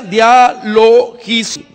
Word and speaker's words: dialogismos: Se pronuncia dialogismo, que viene de dialogismo.